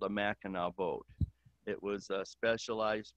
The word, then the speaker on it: Mackinac: They would spell it with the AC, but it's pronounced Mackinac.